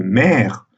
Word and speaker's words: mère: Par contre, la forme mère, comme vous entendez, on prononce encore le R. D'où le fait que cette syllabe finale est entravée. Et là, dans ce cas, on applique la loi de position. Le et est prononcé de manière ouverte.